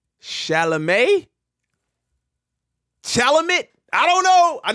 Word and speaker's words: Chalamet: keep the hhsb uh shalam that's how you say it you said it right all right they got